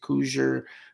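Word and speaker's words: Cugir: cougar plant that's c-u-g-i-r some guys pronounce it coozer cougar cougar whatever i say cougar um you want it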